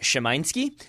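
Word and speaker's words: Szymański: Chesky there we go Noah Chesky scouting Sebastian Shimon ski 19-year old polish midfielder for Legia Warsaw if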